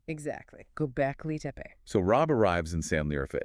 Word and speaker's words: Göbekli Tepe: Pronounced Göbekli Tepe. Right, exactly. Göbekli Tepe.